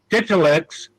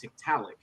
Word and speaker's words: Tiktaalik: What is the falsification process you went through to falsify whether or not Titulix or evolved from fish? What was it's pronounced Tiktaalik.